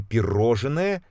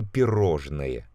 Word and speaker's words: пирожное: пишем неправильное два слова это пироженое вернo мороженое и пирожное обратите внимание слова мороженое